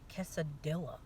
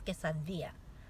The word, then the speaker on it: quesadilla: Okay, when you say the word quesadilla, it's not quesadilla. No, it's quesadilla.